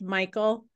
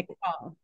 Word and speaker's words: Michal: It looks like it's pronounced Michael, No. M-I-C-H-A-L, but it's no. McCall.